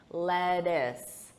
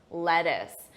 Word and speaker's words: lettuce: Notice that unstressed pronunciation, lettuce, lettuce.